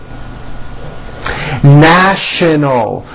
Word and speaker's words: national: National, with the sh sound in the middle and an L sound at the end.